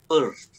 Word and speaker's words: Peirce: Kan Peirce ya, tapi bacanya tuh Peirce.